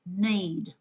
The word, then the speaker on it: knead: K is a silent letter in the word need.